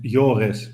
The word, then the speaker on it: Joris: pronouncing your name correctly is it yoris or joris oh is fine it's yoris but that's harder to pronounce so it's fine my